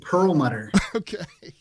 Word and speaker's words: Perlmutter: how do you say your last name its Perlmutter I have to do that though I have